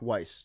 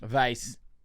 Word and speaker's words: Weiss: Eric Vice or Eric Weiss, depending on how uh Vice Hungarian you would like to pronounce it.